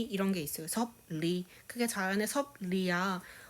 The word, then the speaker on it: 섭리: 섭리. 그게 자연의 섭리야. 어떻게 발음되죠? 섭니야. 이렇게 발음되지 않나요? 그렇죠.